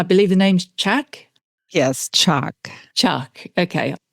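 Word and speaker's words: Chaac: Yes, Chaak. Chaak, okay. The A is, long A, Chaak.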